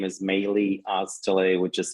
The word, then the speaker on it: Melih: to reach me uh and my name is melee Australia which is spelled m-e-l-i-h and my last name is